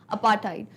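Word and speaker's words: apartheid: Pronunciation भी मैं chapter पढ़ाते टाइम बता चुकी हूँ, थ का साउंड नहीं आता है, यूजुअली ट का साउंड आता है, अपार्थाइड, अपार्थाइड। तो अपार्थाइड कैसा सिस्टम होता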